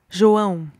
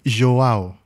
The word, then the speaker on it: João: I'm going to write it and I'm going to spell it and let you help me pronounce it. J-O-A-O. João. João. Right. João. Yes. João.